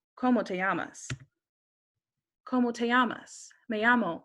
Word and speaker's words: llamas: In Spanish, a double L makes a Y sound. So if someone says, ¿Cómo te llamas?